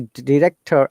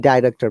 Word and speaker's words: director: So question number 5 is the director and director. Both of the pronunciations are correct. One of them is American.